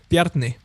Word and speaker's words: Bjarni: How is it correctly pronounced? Bjarni. Bjarni, okay. It's the R that gets most people.